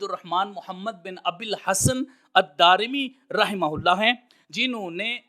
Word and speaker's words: الدارمی: دارمی کی طرف۔ تو اصل لفظ اور تلفظ جو ہے وہ ہے الدارمی، دال کے اوپر زبر، پھر الف، پھر را کے نیچے زیر اور میم کے نیچے زیر، الدارمی۔ اللہ رب العزت کی